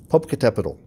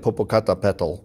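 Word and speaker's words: Popocatépetl: to say it right i'll say it again public capital it looks like popocata petal but it's popular you have to put your the emphasis on a different syllable capital and this is a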